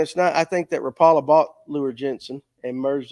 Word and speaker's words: Rapala: I just watched the commercials and however they pronounce their product I well they're Yankees It's Rapala I called it Rapala all my life tomato